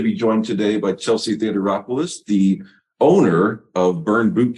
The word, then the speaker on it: Theodoropoulos: are excited to be joined today by Chelsea Theater rois the owner of burn boot camp St Louis